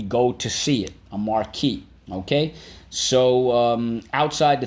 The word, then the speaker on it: marquee: called a marquee a marquee and think about it it does sound like the word mark but it is not spelled like that because it is french in origin and i'll explain in